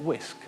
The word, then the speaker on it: wsk: we've got a command line tool wsk we've pronounced it whisk because vowels were in short supply it with this tool